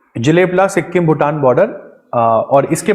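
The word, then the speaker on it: Jelep La: पास के बारे में लिख लेते हैं मैम जेलेपला नेक्स्ट पास जेलेपला जलेब की स्पेलिंग है जे ई जे ई एल ई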